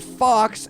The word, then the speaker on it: faux: short for Reverend and fox F A ux cuz that's how it's said not but it's spelled but it's a different